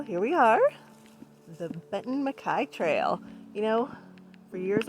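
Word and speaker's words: MacKaye: hi well here we are the benton makai trail you know for years i pronounced it benton mckay because that's how it's spelled and someone corrected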